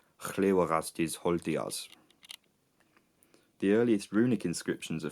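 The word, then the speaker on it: Hlewagastiz Holtijaz: The original Proto-Germanic pronunciation of the name would be something like Llywelgastir Holtiars.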